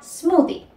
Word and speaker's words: smoothie: Sería smoothie. Smoothie, el famoso smoothie, ¿verdad? En este caso tenemos la presencia de la TH y sonaría como una D.